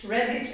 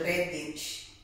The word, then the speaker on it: Redditch: Redditch. Redditch as in red and ditch in one word. Redditch.